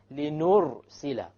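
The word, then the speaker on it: لِنُرْسِلَ: dhamma, for example, arsala, linursila. Notice now the arsala, the ra is silent, but before it is a fatha. Likewise, linursila, the ra is silent, but before it is a dhamma.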